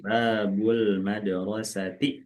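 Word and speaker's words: باب المدرسة: Babu al madrosati. Sambung, Bu. Bacanya disambung. Oh, babul a madrosati. Babul madrosati. Gitu.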